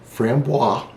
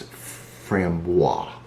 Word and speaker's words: framboise: the whole thing so the way you say that word here is framboise a lot of people say fram boise or freeman you know whatever but the